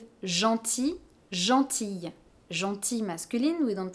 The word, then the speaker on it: gentil: "GROS", It's the same for instance with " GENTIL", "GENTILLE", "GENTIL" masculine, we don't pronounce the final "l", "GENTILLE", we do hear